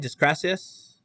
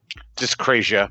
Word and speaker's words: dyscrasia: How do you pronounce it, Dan? Discrasius? Dyscrasia. Dyscrasia. Yeah, with no dyscrasia.